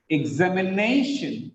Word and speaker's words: examination: Suspicion, examination. Look at here, TION is the last syllable. The previous syllable, the penultimate syllable is stressed.